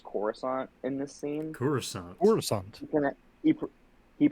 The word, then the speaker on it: Coruscant: I have always hated the way he says Coruscant in this scene he pronounces it like garissant like with a hard Duty for some reason